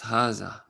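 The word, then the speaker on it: هذا: Haza, pronounced haza, but is written without the first alif.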